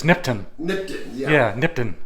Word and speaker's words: Nipton: said it's either nipton or nipton but it's nipton nipton yeah nipton like I said 14 years